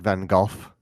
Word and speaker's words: Van Gogh: slightly pronounce the f it is almost like a V sound it's like a breathy V it's my new feminine